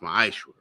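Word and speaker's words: מעשר: It's pronounced, it means 10th in the Hebrew, and it's pronounced ma'ashra.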